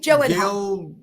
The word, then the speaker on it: Gyllenhaal: Jake Gail Jake Gyllenhaal Gail Gy Gyllenhaal. Yeah, you never know by the way it's spelled.